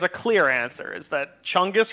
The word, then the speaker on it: Chungus: clear answer is that chungus rhymes with fungus and the the plural